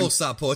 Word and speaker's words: Makankosappo: Makanko Sapo, it's a Sapo, hard one to say. Yeah, you gotta say it like that, bro.